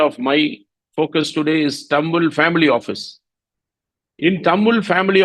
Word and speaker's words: Tamwil: Arabic it means wealth in fact the right pronunciation is tum whe but uh for all branding and other purpose